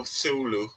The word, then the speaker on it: Cthulhu: Actually, just the sea is silent. So, Thulu, but the name came